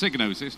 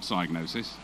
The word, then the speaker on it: Psygnosis: And it is pronounced Psygnosis, not Psygnosis.